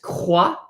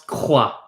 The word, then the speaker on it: croix: how the mouth works, when you pronounce the k in croix, you're pronouncing k using the back of your tongue. The back of your tongue is the part of your mouth that uses to make the sound k.